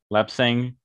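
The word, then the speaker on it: lapsang: did you say lap saying how did you pronounce it i'm sorry lap sang lap sang i finished my cup i had a big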